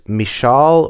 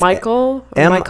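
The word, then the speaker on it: Michal: this name if it's mishall or mik or it's Michael m i c h a l uh so I apologize TR to make it more Hebrew so mikal was the second daughter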